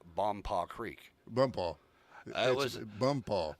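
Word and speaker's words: Bonpas: second day on the job and have to pronounce Bompaw Creek. Bumpaw. It was Bumpaw. Right. Well, the first time it was Bone Pass.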